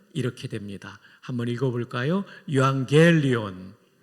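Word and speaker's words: εὐαγγέλιον: 요한겔리온. 발음 아주 좋습니다. 엑센트도 겔리온에 있는데 잘하셨어요.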